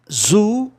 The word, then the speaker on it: zoo: Zoo, zoological. Zoology. Olha aqui, gente. Zoo tem dois Os, né? O grupo O, som de U. Zoo.